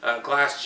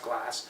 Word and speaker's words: Glas: Glass, GLAS is the company's name. It's pronounced Glass.